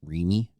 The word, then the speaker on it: REME: So now it's RC EME, pronounced REME.